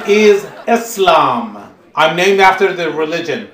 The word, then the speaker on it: Eslam: in my name is Aslam I mean after the religion please please hold applause Americans normally mispronounce my name they call me Islam whether it's Islam or